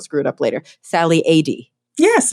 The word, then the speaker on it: Adee: so I don't screw it up later Sally ad yes it's perfect yay I did it um